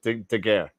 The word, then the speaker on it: Daguerre: Wait, how did you pronounce it? I forgot. It's a Daguerre.